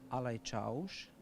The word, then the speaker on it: alajčauš: Ha detto che si chiama Ivica Filippovic Grčić, è capo dei cavalieri, questa funzione si pronuncia Alajčauš, è proprio la parola turca, cioè capo dei cavalieri.